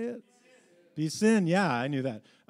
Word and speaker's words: piscine: Piscine.